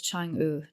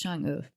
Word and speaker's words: Chang'e: And her name was Chang'e. Now, I'm probably not saying that right, but I think it's the E. It's spelt Chang with an E, but it's pronounced E. Okay. So it's Chang'e, I think.